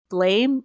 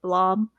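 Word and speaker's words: Blame!: I know that there's the Blame, or I think it's pronounced like Blom, movie on Netflix, and that one didn't look very good.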